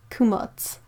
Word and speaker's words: Kamats: Heather says Kamats, pronounced Kumats is his name, but my animals always end up with nicknames.